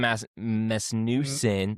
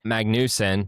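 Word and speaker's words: Magnussen: Um, Kevin Mesen, Magnus. Magnus. Oh, I t I spelled his name wrong. Sorry. Magnusen is going to be in the Project 91 car uh in San Diego.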